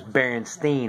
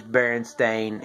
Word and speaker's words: Berenstain: with an E and nowadays Berenstain is spelled like stayin like with an A at the end instead of an e so it's been stayin berenstain bears instead of Bernstein or Stein bears and also there's other